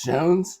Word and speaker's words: Schons: of police J scones that's right it's pronounced shones yeah I I fig